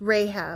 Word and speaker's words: Rahab: Um, that What's the What's I can't remember how to pronounce that. It starts. No, it starts with an R. It's Rahab. Rahab.